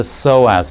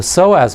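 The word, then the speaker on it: psoas: thing that we'll do is we'll check the soaz muscle the soaz muscle is an important muscle in the spine it's spelled PS OAS and it's a spinal muscle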